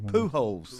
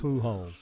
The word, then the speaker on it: Pujols: Pujols. Pujols. Like you dig holes in the ground.